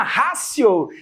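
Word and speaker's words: ratio: Ráo não a última rácio é não se escreve com T mas se fala com c é a última rácio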